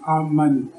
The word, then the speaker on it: Amani: Comme il a été dit, je suis et je vous parle aujourd'hui au nom du roi Noah Amani. Noah s'écrit N-O-W-A, Amani s'écrit A-M-A-N-I.